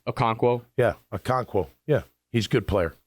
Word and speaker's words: Okonkwo: Yeah, Okonkwo.